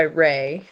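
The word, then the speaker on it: Rae: Rachel Ayla McKinney um she goes by Ray r-a-e Ray McKinney she is Scottish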